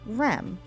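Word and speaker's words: rꜥm: represents the letter M these two letters together are pronounced REM which is the Egyptian word for fish and is represented in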